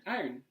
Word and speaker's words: iron: You're putting the R right before the N. It's like IORN instead of like IRON.